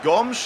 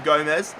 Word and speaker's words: Gomes: I used to call him Gomez, but I've been told by my Portuguese subscribers that he's pronounced Gomes, so he's being called Gomes in this series.